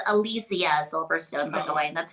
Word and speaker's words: Alicia Silverstone: Um, it's Alysia Silverstone, by the way. That's how it's pronounced.